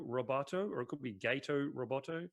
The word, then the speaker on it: Gato Roboto: this could be I don't know how to pronounce it could be gato Roboto or a could be gate Oh Roboto gato Roboto thank you so this is a nice little